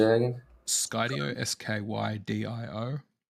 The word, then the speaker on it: Skydio: Skydio, SKYDIO.